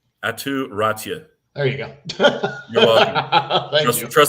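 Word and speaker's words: Aatu Räty: Atu Ratia. There you go. You're welcome. Trust the broadcast guy who studies pronunciations.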